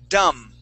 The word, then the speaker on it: dumb: in the chat box the word is dumb this the B is silent oh dumb yes okay dumb okay silent be um the uh I